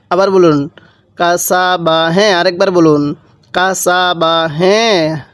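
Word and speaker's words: كَسَبَ: বা জবর বা কাসাবা কাসা বা টান দিবেন না আবার বলুন কাসাবা হ্যাঁ আরেকবার বলুন কাসাবা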